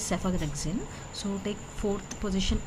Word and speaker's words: cephalexin: Here pH is pronounced as F, right? So take it as a single letter only, that is cephalexin.